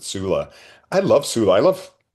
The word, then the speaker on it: Sula: You know, I love I also pronounced it culla, but I think everybody pronounced it sula.